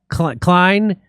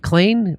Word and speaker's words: Klain: The family criticized his top campaign advisors, including Ron Klein. How do you say? Is it Klain? Ron Klain.